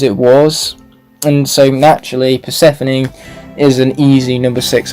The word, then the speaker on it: Persephone: cool coming in at number six we have percy phone i'm kidding i know it's pronounced persephone and what's so great about here is her